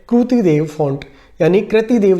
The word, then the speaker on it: कृति देव: है कृतिदेव फंट यानी कृति देव जो होता है उसको बोलते हैं इसको कई-कई विद्यार्थी कृति भी पढ़ते हैं लेकिन इसका शुद्ध उच्चारण है कृति देव कृतिदेव जो टाइपराइटर रेमिंगटन